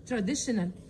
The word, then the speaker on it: traditional: والتي اي او بتتنطق بصوت ش، traditional.